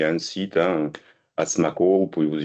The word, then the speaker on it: Asmaco: Donc pareil, il y a un site, hein, Asmaco, vous pouvez vous y connecter.